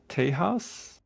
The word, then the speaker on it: Tay House: Uh, before we get started, uh, how do you say your name? Is it Tay House? Yep, that's correct.